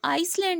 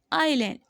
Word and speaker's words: island: इसको आइसलैंड नहीं पढ़ेंगे. मोस्टली स्टूडेंट्स को ISLAND लैंड पढ़ते हैं. नो, इट्स, ये वर्ड है आइलैंड. S साइलेंट है यहाँ पे.